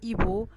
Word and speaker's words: hibou: Par exemple, le hibou, les hiboux. Alors H est muet et je ne fais pas la liaison entre le déterminant et le nom.